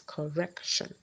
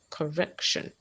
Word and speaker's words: correction: in correction correction in a word like correction the second syllable is stress so you have it as correction correction yeah correction so that will bring